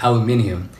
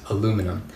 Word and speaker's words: aluminium: I use words like rubbish, and I still pronounce aluminium the right way, as aluminium and not aluminum.